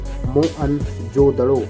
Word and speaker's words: मोहनजोदड़ो: मोहनजोदड़ो शब्द का सही उच्चारण है मोअनजोदड़ो और सिंध भाषा में इसका अर्थ है मृतकों का टीला, यानी मौत का टीला।